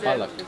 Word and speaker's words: Balık: Balık. Balık. Bollock, not bollock. Not bollocks. Okay.